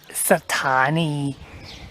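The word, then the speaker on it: สถานี: The word for station in Thai is Sathani.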